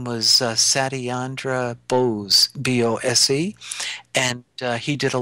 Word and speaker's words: Bose: worked with einstein and his name was satyandra bose b-o-s-e and he did a lot of work